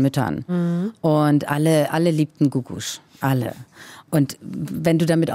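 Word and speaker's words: Googoosh: Wie wird die Gruppe oder der Interpret ausgesprochen? Das ist eine Frau, und zwar Gugusch heißt die.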